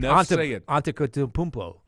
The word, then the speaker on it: Antetokounmpo: It's like Antetokounmpo.